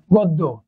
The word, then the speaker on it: গদ্য: বলি যে গদ্য দেখেন দ কিন্তু হচ্ছে কি অল্পপ্রাণ তাই এটার উচ্চারণ হবে গ দুইবার নিচেই হবে গদ্য কিন্তু এখানে দেখেন আগে